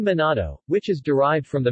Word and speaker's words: Manado: minato pronounced monado in Manado Malay and natto in Indonesian is the capital city